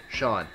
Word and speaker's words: Sean: Supposed to be seen, but it's spelled the Irish way of Shawn. Sa. Jake wakes up from his bed. Jake. Good morning, Shawn. Sean, good morning.